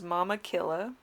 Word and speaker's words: Mama Killa: goddess card which is mama killa or more tequila her name literally is that pronunciation in inca so she was the